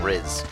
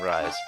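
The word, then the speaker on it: Rhys: And I'm saying Riz, the proper pronunciation. After all these years of saying Rise.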